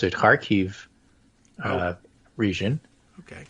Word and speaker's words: Kharkiv: learned to pronounce it, Kharkiv region. Okay. It's KH, but you pronounce the KH like you would Hanukkah.